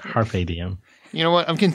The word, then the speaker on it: carpe diem: Carpe diem. Yeah, wow. That's not how you pronounce it. Carpe diem.